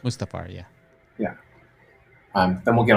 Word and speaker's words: Mustafar: Is that how it's pronounced? Mustafar, yeah.